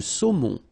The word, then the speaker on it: saumon: Le saumon. O-N, remember, nasal in your nose.